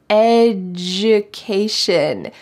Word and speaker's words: education: my student education education notice this pronunciation the d sounds like education you can get a